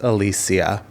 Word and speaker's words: Alicia: own name and she she's on a Facebook video saying it's pronounced Alysia.